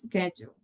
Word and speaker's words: schedule: the first one schedule, that's one that I usually hear like shadow or schedule like no, it's sket or something like that. So we have to be very clear when we pronounce schedule, right?